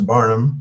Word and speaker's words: Barnham: The name originally is from England, In England, it is spelled Barnham, but it's pronounced exactly the same. Barnum is Barnum, both sides of the Atlantic.